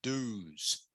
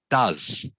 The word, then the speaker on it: does: So the first one, I think you said do's. All right. I think you said do's. The word, of course, should be pronounced does.